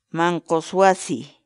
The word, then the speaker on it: manqus wasi: de vídeos en la que te enseñamos a pronunciar algunas palabras en quechua así que nuestra palabra del día por hoy es mancuso así mancuso así mancuso así la palabra quechua manco